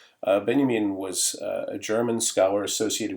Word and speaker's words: Benjamin: name of Walter Benjamin I know it looks like Benjamin uh but it's pronounced if you're fancy it's pronounced Benyamin uh Benyamin was a German scholar